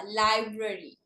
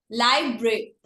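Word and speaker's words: library: लाइब्रेरी नहीं होता, लाइब्रेरी। लाइब्रेरी, ब्र साथ में बोलना है, लाइब्रेरी।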